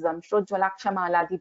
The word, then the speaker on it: Damshtrojwalakshamala: If it is Damshtrojwalakshamala is one ring, we are going to pronounce this as Damshtrojwalakshamala only. We are not going to split this further.